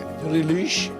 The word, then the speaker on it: Diriliş: Right pronunciation. Right. असल तलफ़ुज़ है। Diriliş Ertuğrul.